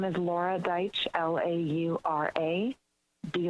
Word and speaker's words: Laura Deich: two minutes you may begin my name is laura deich l-a-u-r-a be like david e i t like